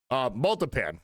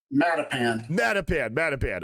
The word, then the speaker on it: Matapan: I actually looked up how to pronounce this before I started stream, and I'm still going to burn it. Multipan. That's what I'm going on. Cape Multipan. Matapan.